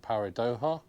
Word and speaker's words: Paradoja: You've heard of, oh, I'm going to try and say it, Paradoja, Doha, because the Mexican normally J's pronounced H, so Paradoja.